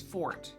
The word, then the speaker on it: forte: Uh while fort is from the French word fort meaning strong as if his power is suggestion technique.